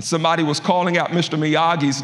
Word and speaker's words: Miyagi: a tournament and somebody was calling out Mr miyagi's name and they and they didn't pronounce it right and by this time Daniel